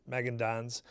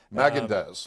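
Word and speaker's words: Magendanz: And then a 5th legislative district, Miles' stomping grounds as a kid, we got Victoria Hunt and Chad Magandans. Magandaz, like Haagen-Dazs ice cream.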